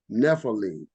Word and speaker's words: Nephilim: means the Fallen ones which in Hebrew is pronounced Nephilim where it states in Genesis 64 there were Nephilim or Giants in the earth in those days